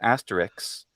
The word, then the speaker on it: asterisk: that that I mean the word asterisk a lot of people pronounce it Asterix just because that's phonetically easier for most English speakers to say and that this